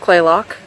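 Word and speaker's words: Kalaloch: is just north of clay lock and I will put the clay lock is how you pronounce it I will put the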